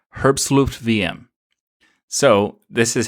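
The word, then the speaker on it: herbstluftwm: that's what it is the WM is vm because it's a German team and it's a German term and it's the pronunciation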